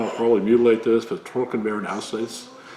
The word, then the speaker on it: Trockenbeerenauslese: Another one is, again in German, I'll probably mutilate this, but Trockenbeeren Auslese. Trockenbeeren Auslese, I think it is pronounced, something like that.